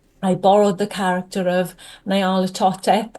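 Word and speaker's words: Nyarlathotep: And, um, I borrowed the character of Nala Toteep. I'm never certain how to pronounce that, but I think it's NaOTep. I hear it pronounced a few different ways for this particularly story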